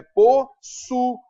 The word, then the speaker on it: possuía: Ele está sozinho na sílaba, não é possuia, é possuía.